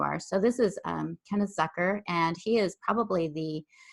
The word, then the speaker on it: Zucker: My last name's pronounced Zucker, like Zucker. hooker. Oh, okay.